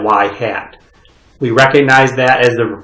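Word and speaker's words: ŷ: Okay, we pronounce that y hat.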